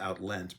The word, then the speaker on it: outleant: I think it's maybe pronounced outlent because it rhymes with lament.